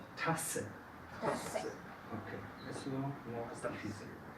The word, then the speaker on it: Tasse: Y fuerte es Tasse.